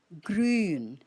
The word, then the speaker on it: grün: The U is a U umlaut, and you say it long. So, grün.